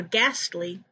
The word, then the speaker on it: ghastly: the b is silent for ghastly the h is silent for pollen the second